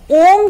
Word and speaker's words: ओम: का उच्चारण करेंगे, इनहेल, ओम, एंड रिलीज। ओम का उच्चारण 3 शब्द, आ ऊ मा। आ 50%, ऊ 30%, रेस्ट 20% मा।